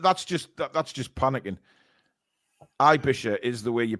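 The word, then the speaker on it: Aebischer: I mean that that's just that's just panicking I bisher is the way you pronounce it okay I got it right then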